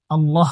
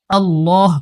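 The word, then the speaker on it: الله: ওলাম জবর লা এটা আল্লাহ শব্দের লাম এটাকে মোটা করে উচ্চারণ করতে হবে কহু ল্লাহু আহাদ আহাদ কহু ল্লাহু আহাদ অনেকে কিন্তু কুলহু আল্লাহ করে থাকে।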